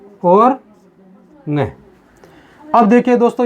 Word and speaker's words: ङ: अड़े नहीं बोलते, इसको अड़े न बोलकर इसको बोलते हैं हम ङ। तो इसका सही उच्चारण होता है दोस्तों ङ।